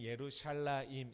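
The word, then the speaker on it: ירושלים: 그것을 헬라어로 했을 때 히에로솔리마 이렇게 발음하지만 원래는 예루샬라임 이게 맞는 말이죠. 예루샬라임이라는 것은 평화의 땅, 평화의 터 이런 의미로 귀결되겠지만 예루살렘은 두 가지 단어가 합성된 언어입니다.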